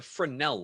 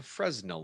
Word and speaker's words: Fresnel: It's called a Fresnel lens, often mispronounced as a Fresnel lens because it's French, and the French add all sorts of extra letters into words that aren't needed.